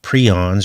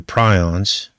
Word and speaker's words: prions: going to be about prions or prions you can pronounce it either way and what are they